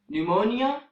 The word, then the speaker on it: pneumonia: of P and n in these words the letter P is also silent and the examples in this regard are pneumonia pneumatic pneumonia and pneumatic